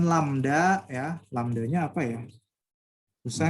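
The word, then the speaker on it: lambda: gini putih-merah nah nih lamda nah gitu ya bacanya lamda itulah panjang gelombang nah kepadanya Berapa panjang gelombangnya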